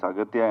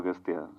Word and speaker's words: Aghathiyaa: It is Aghathiyaa, but in the film your name is pronounced in different ways. Aghathiyaa. Yeah. In both ways it is pronounced. Yeah, it's Aghathiyaa and also Aghathiyaa.